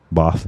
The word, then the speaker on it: Bath: Bath. That's how they told me how to pronounce it when I was living in the UK. We'd just say Bath.